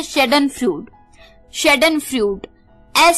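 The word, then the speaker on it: Schadenfreude: happiness मिले तो उसे हम का देते हैं शैडेन फ्लड शैडेन फ्लड एस सी हा ए दी आई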